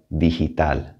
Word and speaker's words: digital: let's talk about g g normally in spanish has a hard g sound or a but it will have an h sound like an h in english before an e or an i here are two examples legal legal that's a hard g and then we have dijital digital which is more like the english h a v in spanish